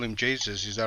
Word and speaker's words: Jesus: is jesus because obviously he's not from spain so you don't say jesus so he's actually people in the chat were busy telling me to pronounce jesus no that's wrong if he was spanish then that would be right but he's from brazil so this is jesus um i don't i